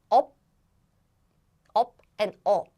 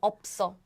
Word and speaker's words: 없어: But the thing is, if you read letter by letter, it's up, and up. But when you link the word, when you okay. link the word, then the pronunciation is changed as 없어.